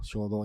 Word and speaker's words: Xodo: Yo utilizo como lector ahora el Shodo, o sea, XODO, Shodo, en portugués pronunciamos así.